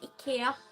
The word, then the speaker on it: IKEA: We say it Ikea. That's how it's really said. And Spotify is called Spotify.